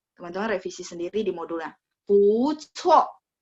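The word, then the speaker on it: 不错: Bu cuo. Cuo, karena C, bacanya ada angin ya.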